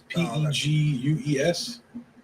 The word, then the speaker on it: Pegues: JJ, I don't know how to pronounce this. It's Pegues.